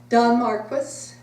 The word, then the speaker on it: Don Marquis: How do you pronounce his name? Don Marquis.